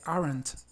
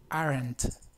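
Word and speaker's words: aren't: dice Are Not dice aren we aren como les comentaba anteriormente esta e es muy relajada y muy poco perceptible o sea es no es arent es aren ar por ejemplo par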